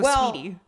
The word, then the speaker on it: Saweetie: Yeah, it is Saweetie though. I know it's Saweetie, but I don't think you pronounce it Saweetie. You just go Sweetie.